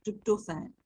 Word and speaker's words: tryptophan: These assets include the amino acids tryptophan, production, pronounced tryptophan, and tyrosine, which are sacrificed in the liver as antioxidants to neutralize toxic waste.